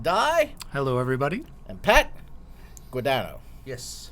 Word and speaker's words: Guadagno: Guadagno is how it's pronounced. Yes. Correct? Okay, Guadagno. good. No, I knew a guy who spelled it the same way, but he used to pronounce it Guadagno.